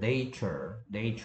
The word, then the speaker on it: nature: 근데 뭐 여기서 알아둬야 될 거는 뭐냐 하면은 A의 발음이 달라진다는 점입니다. 얘는 A가 뭐 발음 영어 발음기로 하면 이렇게 발음 나고 있죠. Nature. 근데 얘는 뭐 발음 기호는 이렇고요. 뭐 이거 굳이 한글로 쓴다면 이런 발음이죠. Natural이죠. Natural. 그래서 A의 발음이 얘는 Nature인데 얘는 Natural 된다는 거. 그래서 A의 발음이 달라지는 것도 꼭 알아두세요.